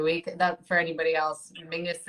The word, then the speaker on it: Menzies: that for anybody else mingus is how weirdly the scot dish people um that's that's how they would pronounce menzies i don't understand where the g comes out of it but that's it is